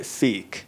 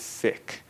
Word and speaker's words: Sikh: always people are confused is it sick or is it seik so when referring to the individual or the people it's sick so that's a group of six over there I am a sick that's my sick friend